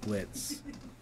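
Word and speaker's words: Blitzø: and Blitz? Yeah. Blitz. The O is silent. Blitz, yeah. With Stolas and Blitz when he's singing that song.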